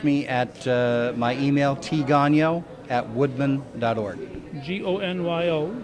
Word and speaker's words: Gonyo: Gonyo. Gonyo. It's not one of those ganyons.